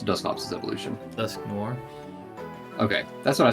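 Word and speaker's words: Dusknoir: I would love to have a Do you say how do you pronounce Duskops's evolution? Dusk noir. Okay, that's what I say, too. I've heard people say Duskore.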